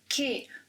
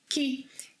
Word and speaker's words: que: But first, it's important to highlight that que may be pronounced as que or ki. Que doesn't have a twin brother. No. Que and ki are the same person. The only context, the only place in which que cannot be pronounced as ki, it must be que, is when que is the last word in a question.